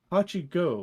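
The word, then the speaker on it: 8号: The staff made the announcement on August 5th as the pronunciation of number 8 in Kaiju number 8 is Hachi Go, with Hachi meaning 8 and Go without the long O means 5 in Japanese.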